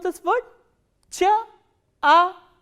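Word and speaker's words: чай: next one you already know how will you pronounce this word chair ah e chai what is chai chai only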